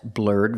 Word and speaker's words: blurred: can say she has blurred vision or I can say she has blurry vision pronunciation blurred the e d makes the D sound at the end blurred blurred she has